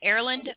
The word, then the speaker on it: Erland: If you want to follow them on Twitter, it's Erland Music.